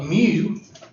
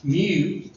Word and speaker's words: mu: and they throw up mu, which is pronounced M-E-W, mu, then you know that's the population mean.